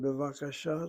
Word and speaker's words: bevakasha: In the word bevakasha, the kamatz is an open syllable. It's not being closed by dagesh and shin. And the second last syllable is CV, also open syllable. The last letter hey is really not a consonant, it's a vowel marker.